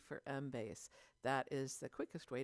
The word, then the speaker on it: Embase: library and today i'm going to talk about mbase mbase is spelled e-m-b-a-s-e and is one of our more